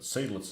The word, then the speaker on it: Seydlitz: Yeah, S-E-Y doesn't seem like it should be Psy. It could be.